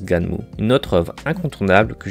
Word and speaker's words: Gunnm: Ouais, à Skip, ça se prononce Ganmu.